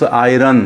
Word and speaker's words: iron: Okay, एक और sentence देखें आप यहाँ पर, I have my shirt and okay, and don't say this iron, huh? Iron is wrong, R is silent here, ironed.